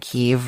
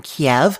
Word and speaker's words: Kyiv: I've been teasing you with this chicken keeve recipe for months, I think, at this point, and I'm finally telling you about it today.